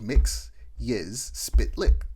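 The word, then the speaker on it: Mxyzptlk: sounds it out, and he goes Mix Yiz Spitlick, and ever since then I've been able to say his name properly, Mixie Spitlick.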